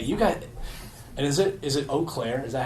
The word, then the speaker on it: Eau Claire: And is it Eau Claire?